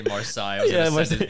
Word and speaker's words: Marseille: Marseille? Yeah, Marseille. Yeah. I knew I was gonna say it wrong. I was gonna say Marcel. I was gonna say Marseille.